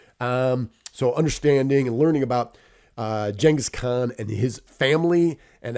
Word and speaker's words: Genghis: Now, Genghis, or Genghis, right? This is one of those terms when you pronounce it correctly, other people think you're dumb because they think you're pronouncing it incorrectly. So whatever. Genghis Khan is actually how you say it, according to the book anyway, or Genghis Khan.